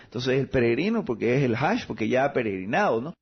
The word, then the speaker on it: El-Hage: mi apellido es musulmán el aje significa El peregrino O sea tú le el el aje es digamos tropicalizado latinizado ap Pero cómo realmente se debería de pronunciar se debería pronunciar el Hash y es un es